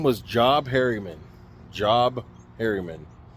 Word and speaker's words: Job Harriman: So the guy that started this, his name was Job Harriman. Job Harriman. It's spelled J-O-B, so that's how I'm pronouncing it.